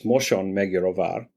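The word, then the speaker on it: Mosonmagyaróvár: So the western side of Hungary, where the Moson Megyerovar show is held, and I'll pronounce that again in the Hungarian way, which is Moson Megyerovar. Moson is the correct pronunciation. Magyar means Hungarian. Ovar means fort.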